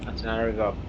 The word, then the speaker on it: Antananarivo: capital of Madagascar is Antananarivo. Jesus Christ, Jesus Christ, Antananarivo, Antananarivo. So that's where we're going to Antananarivo. It's not two separate words; it's one word.